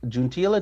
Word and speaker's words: Juntilla: Today, we have bringing back one of our most popular guests, Juntilla. Did I pronounce last name correct?